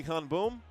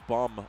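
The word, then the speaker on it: Han-beom: Lee Han-boom. Kim Min-jae. Kim Min-jae. Back to Lee Han-boom. Han-boom. I think it's bum, honestly. I think the B-E-O-M is pronounced bum in Korean.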